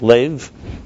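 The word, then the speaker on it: לֵב: Then there's a love, as he describes in Tanya, in chapter love, Perik Lev. Lev in Hebrew is pronounced love, is Lamed Bey's heart.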